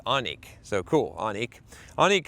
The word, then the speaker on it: Onique: This is from Onik, and I don't think I would have figured that out because it's spelled O-N-I-Q-U-E. I would have probably said Iniqui, but it's Onik, so cool, Onik.